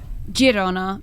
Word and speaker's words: Girona: Girona, because it's in Catalan, not in Spanish. But let's not start that debate. No, but thank you. So Girona, here we go. Exactly. Okay. Girona.